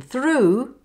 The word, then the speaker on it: through: For the OO in through, through zoo.